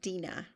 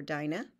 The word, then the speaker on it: Dinah: um takes a shine to jacob's only daughter dina or dinah depending on how you want to pronounce it and um lays with her by